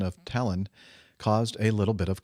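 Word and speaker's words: Tallinn: language the stress is placed on the first syllable of words meaning that in the name talon the emphasis is on the beginning of the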